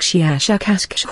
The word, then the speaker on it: Shiashakasksh: human letters, something like Shiashakasksh with a very, very strong pronunciation of the SH and K sounds.